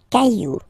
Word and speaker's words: cailloux: Un caillou, plural, des cailloux. Okay, remember, you don't pronounce it, the final X.